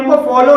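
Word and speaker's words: cough: को अपवाद कहते हैं जैसे कफ कफ में ओ यू के बाद जी एच है और यहां पर जी एच का उच्चारण फा हुआ है इसलिए इसे कफ बोलेंगे रफ रफ में ओ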